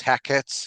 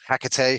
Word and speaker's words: Hecate: I've seen it work so effectively and and McBth does does reference Heckit or Picate or Hecate, however you uh you prefer to pronounce.